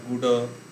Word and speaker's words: গুড়: কিন্তু যখন ড শব্দের মাঝে থাকে, যেমন ক্রীড়া, সংস্কৃতে ক্রীড়া, গুড় এরকম উচ্চারণ হবে, নিগড়, বাংলায় কিন্তু সেখানে ড উচ্চারণ হয়, ক্রীড়া, নিগড়, নিগড়, গুড়, গুড়ো এরকম, নিবিড় এরকম উচ্চারণ হয়।